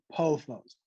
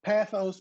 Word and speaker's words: pothos: world who say pathos instead of me on the bottom saying pothos. Now, again, pathos, pothos, and we know what this plant is.